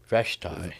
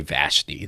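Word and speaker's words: Vashti: Vashi. There you go. I knew Craig would get it really good. I was going to say Vashy.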